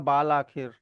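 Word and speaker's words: بالآخر: मतलब बिल आखिर लिखा जाएगा बाल आखिर, लेकिन उसको पढ़ा बिल आखिर जाएगा।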